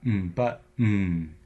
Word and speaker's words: button: vowels in some words so if you take the word button there's really no o in it but a but on it's but butn and that n is essentially the vowel in the second syllable of the word it's